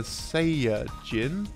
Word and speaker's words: Saiyajin: Babidi, Buu says, Super Saiyajin? This is a reference to the Japanese name and pronunciation of Saiyans, which is Saiyajin.